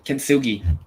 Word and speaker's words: Kintsugi: I can't wait for Alec to not be happy about how I pronounce this. It's called the Kintsugi. Nailed Nailed it. Yeah. Nailed it. Yeah. Kintsugi.